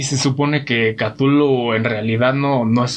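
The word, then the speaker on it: Cthulhu: donde venga para empezar nuestras lenguas no pueden pronunciar su nombre porque nosotros decimos catullo pero decía lo craft que en realidad no hay nadie en la tierra que pueda pronunciar sin nombre este ser se convierte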